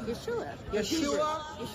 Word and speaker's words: Yeshua: How do you say Jesus in Israel? Yeshua.